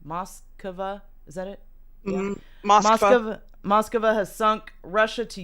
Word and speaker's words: Moskva: Moskva.